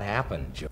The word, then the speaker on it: happened: 미국의 드 발음 있죠. Happened. 이거는 정말 안 내도 되는 정도로 이렇게 됩니다.